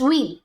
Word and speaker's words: veil: ये VEIL जो लिखा है ना, इसको प्रोनाउंस व्हील करते हैं। व्हील पहिया वाला नहीं, WILL यानी इच्छा वाला या वसीयत वाला विल भी नहीं, इट्स व्हील, व्हील, that's it.